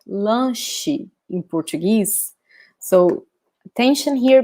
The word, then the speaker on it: lanche: In Portuguese, the sound here is sh, sh. So similar, right? Let me show you here. So lunch in English, lanche in Portuguese.